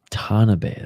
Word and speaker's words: Tanabe: Tanabe, that's how you say his name.